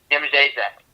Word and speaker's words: Jędrzejczyk: Now this is gets a little crazy, okay? Polish a little crazy. Yem. Just pronounce it completely. Jędrzejczyk.